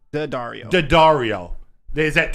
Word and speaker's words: Daddario: How do you pronounce her name? Alex Daddario. Alex Verdario? Daddario.